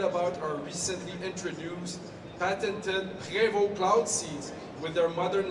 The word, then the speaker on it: Prevost: Not Prevost, but it's Prevost.